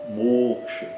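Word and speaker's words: moksha: Então, o fechado longo, né? E o curto no final, mocha. Outro exemplo, yoga.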